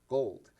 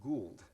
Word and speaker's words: Gould: that he's going to Gold. And I knew he meant the company Gould, but he was pronouncing gold.